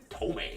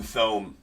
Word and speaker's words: Thome: Tome on the Bleacher Reachers. Or excuse me, it's Jim Thome. It's my bad. Definitely Jim Thome. It's definitely how that's pronounced. If you don't believe me, look it up.